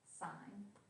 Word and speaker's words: sin: as s of theta it's not sin pronounced sign we always have a